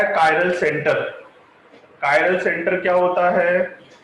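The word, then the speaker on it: chiral: Attach हो उसे बोले, गुजराती मीडियम वाले जनरली इसे चिरैल बोलते हैं, चिरैल। चिरैल कार्बन नहीं बोलेंगे, इसे एग्जैक्ट प्रोनाउंसिएशन इसका कायरल कार्बन होता है।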